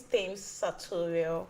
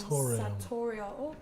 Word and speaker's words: Thames Sartorial: Please pronounce the name of your brand for us. Okay, so the name is Thames Sartorial. Thames Sartorial. Okay, I think it's Sartorial. Okay. What language is that? That's Italian.